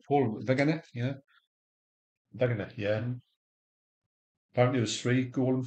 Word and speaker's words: Wegener: Pronounced Paul Wegener? Yeah. Wegener, yeah.